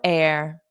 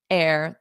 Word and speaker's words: heir: similar to hair but that H is not pronounced so it is the exact same pronunciation as air breathe it in air